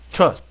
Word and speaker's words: trust: 그래서 읽으실 때 단 한 번의 호흡으로 trust, trust 한 번에 읽습니다. 하지만 한국어식으로 읽자면 trust 이런 식으로 늘려서 발음하게 되죠.